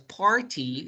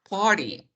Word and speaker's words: party: tanto, fiesta, ya no dirías party, dirías party. Party.